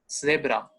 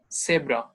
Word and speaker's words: Zebra: I told you, when you have Z in German, pronunciation of S, zebra. So zebra is the pronunciation.